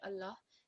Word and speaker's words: Allah: out or Dunois that the law said that which appears in the middle of the word Allah it will be read as a thick law so all other examples